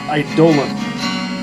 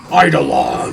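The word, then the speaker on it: eidolon: That word is pronounced idolan. It means something to the effect of fantasm or apparition. But I think as a name it would sound more menacing if we pronounced it Idolon.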